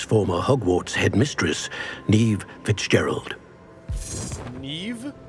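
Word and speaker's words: Niamh: Neve? That's how you pronounce that? Gaelic, man. I promise you that's Gaelic. How do you do?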